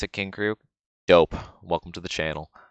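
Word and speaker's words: King Krule: That's how you pronounce it, King Krug.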